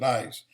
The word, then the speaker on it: IS: And Iran called this group IS, I-S. But they pronounced it ICE.